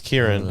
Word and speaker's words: Kirin: Yeah, it's Kirin. Okay. Yeah, you don't have to look that up. I'll put my life on it. Okay, it's Kirin. Yeah, cool.